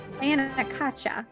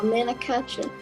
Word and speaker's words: Manakacha: Well, you guys pronounce it. Mana. Oh, the Anakacha Mana. formation. Manakacha. Yeah. Oh, Manakacha.